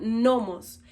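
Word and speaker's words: νόμος: Esta palabra se pronuncia nomos.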